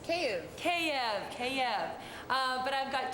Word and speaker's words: Kyiv: It's not Kiev, it's Kyiv.